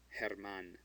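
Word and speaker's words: Germán: Herman. The G becomes before an E, so it's ha.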